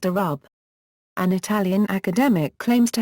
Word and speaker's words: الربع: expression of a quarter, lrb pronounced arub.